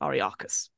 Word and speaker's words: Ariakus: the moon colony of Ariakus. That's how you pronounce it, Ariakus.